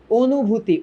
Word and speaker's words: অনুভূতি: অনুভূতি উচ্চারণটা করো তো। ফার্স্টে তুমি বলো ও, নট অ।